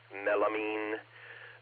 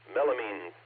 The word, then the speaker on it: melamine: to say goodnight and give Gary the correct pronunciation of melamine. Melamine, buddy, melamine.